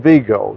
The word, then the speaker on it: Vigo: that made sure that we said Vigo. That was the French pronunciation. Not a lot of people call it Vigo, but she made sure we only used Vigo.